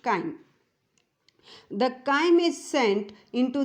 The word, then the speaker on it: chyme: It is pronounced chyme.